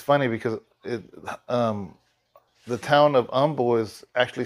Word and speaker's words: Humble: It's funny because the town of Humble is actually spelled humble, like I'm a humble person. But the H is there, but they pronounce it with the H silent, Humble.